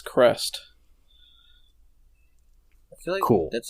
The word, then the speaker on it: Crest: according to the according to the wikipedia it's crest really cool that's like a common thing you're